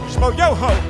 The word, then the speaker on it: Schmoyoho: Shmo yo ho, accent on the yo.